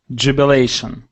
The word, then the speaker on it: jubilation: okay let's go to Jubilation Jubilation uhhuh that's with the stress on that a okay now excellent let's